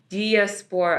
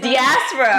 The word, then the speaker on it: diaspora: And then I have that for diaspora. Diaspora. No, it's diaspora.